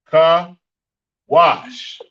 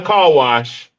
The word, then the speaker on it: Kawash: Kawash. Kawash. Not a car wash. I'm saying kawash. I'm just breaking it down a little slower. I had it broken down slow to me, so I'm just helping y'all out. It's kawash. It's not a car wash.